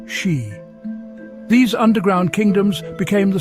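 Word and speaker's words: sídhe: They retreated into ancient hills, caves, and mounds called seday, pronounced she.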